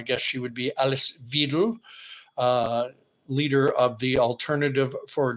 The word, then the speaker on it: Weidel: I would assume that's how her name is pronounced, Weidel, but W's in German are pronounced as V's in English. So I guess she would be Alice Weidel, leader of the Alternative for Germany party.